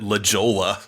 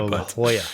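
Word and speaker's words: La Jolla: Feel free UK podcasters to pronounce it Legola if you want. I don't we don't care about that either. What are you pronouncing? Legola. I was thinking of La Hoya, California. La Hoya.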